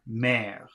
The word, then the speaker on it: mère: So letter A is M-E-R, mère. And then the next word is A-I-R, and that should be pronounced air.